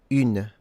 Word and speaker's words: une: Put the mouth, your mouth, in the same position as when you pronounce the letter U, U. Okay, so you look at this, U, U. And in this mouth position, try and pronounce a I.